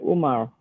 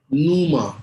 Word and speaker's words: Numa: Umar. Numa. Numa is spelled N-U-M-A.